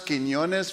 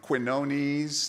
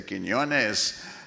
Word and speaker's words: Quiñones: Didn't she pronounce Quiñones very well? It's not the easiest name to pronounce. I've been called everything from Quinones to Quinones. So I appreciate it when they say Quiñones.